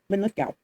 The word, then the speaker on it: Linlithgow: There was a strong castle near Linlithgow, or Lithgow, as the word is more generally pronounced, where an English governor